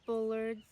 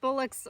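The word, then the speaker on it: Bullock's: Bullards. Is that how you say it? Is it Bullocks. Bullocks? Bullocks Orioles.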